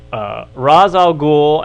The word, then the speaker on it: Ra's al Ghul: with Denny O'Neil, and it is Ra's al Ghul, and that's why they used it in Warner Brothers in the movie, because that's supposed to be the correct pronunciation.